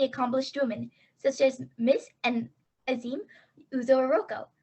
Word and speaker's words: Ezinne: My name is Ezinne Uro-Okoro. Ezinne rhymes with resume, attempts to help people remember it, and I'm just very delighted to be here with you all today.